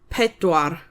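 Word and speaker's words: pedwar: Four is pedoir.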